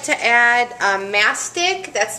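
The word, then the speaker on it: mastic: starch now some people like to add um ntic that's spelled m a s t i c it's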